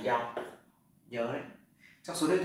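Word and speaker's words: 幺: Thế cái số, các bạn nhớ cái số 1 cho số điện thoại thì người ta không đọc là y mà người ta đọc là giao.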